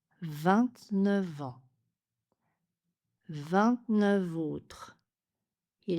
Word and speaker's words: vingt-neuf: L'exception c'est que 29 est prononcé avec une liaison en V avec les mots suivants en autre heure et homme. 29 ans. 29 ans. 29 autres.